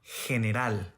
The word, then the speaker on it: general: When letter G is followed by E or I, it's pronounced as a strong English H sound or German Bach. Imagen, general, elegir, página.